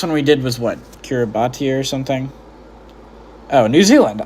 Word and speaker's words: Kiribati: It's pronounced Kiribati.